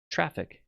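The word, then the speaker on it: Traefik: one was using um traffic as a reverse proxy uh traffic TR it's always funny one to spell it's not t r a e f i k is the the name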